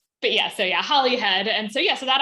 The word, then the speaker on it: Holyhead: And we pronounce it Hollyhead. Hollyhead. Like like it like Holly, like H O L L Y, even though it is Holyhead, but we we say Hollyhead.